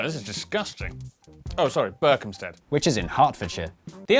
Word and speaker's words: Berkhamsted: Oh, sorry, Berkhamsted. which is in Hertfordshire. The only way to be absolutely sure of pronouncing British place names correctly is to live